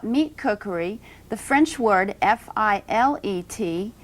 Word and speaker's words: filet: you're speaking about meat cookery the French word fil ET it's pronounced filet and that's the proper way to